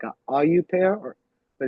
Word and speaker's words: au pair: like being a a it's called like a AU pair or but it's spelled a au and it's p a i r.